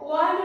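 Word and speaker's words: one: হলো না, আর এখানে ওয়া ওয়ার মতো উচ্চারণ হয়ে যাচ্ছে তাই অ্যান হচ্ছে না, ওয়া ও অন্তস্থায়কার ওয়া, ঠিক আছে, ওয়ান রুপি নোট এ হলো।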